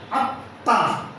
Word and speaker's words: আত্মা: যেমন আত্মা, আত্মা শব্দের শেষে তয়ে মফল আছে, এই ময়ের উচ্চারণ হবে না, তবে যে তয়ের সঙ্গে মফল আছে এই তয়ের উচ্চারণ দিতে হবে এবং আনুনাসিক আত্মা।